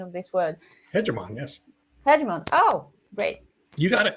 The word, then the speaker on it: hegemon: one big leader one hegemon what's the correct pronunciation of this word hemon yes hemon oh great you got it uh you got